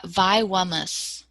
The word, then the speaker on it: Vywamus: do you say that uh vi wummus why like violence hard word to say